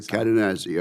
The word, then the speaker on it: Cadenazzi: Mike Cadenazzi, Assistant Secretary of Defense for Industrial-Based Policy, and sir, I hope I pronounced your name exactly correct. You did, absolutely. Cadenazzi, okay.